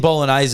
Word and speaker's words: Bolognese: Legend it's Bolognese it's not bolognes anyway go on guys